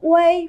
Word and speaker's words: uei: Vận mẫu way này, cách viết hoàn chỉnh của nó là UEI và chúng ta sẽ đọc là gì? Way, đúng không ạ?